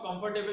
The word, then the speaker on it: comfortable: Now here one bonus tip: the spelling of comfortable is COMFORTABLE, but the pronunciation of R is silent.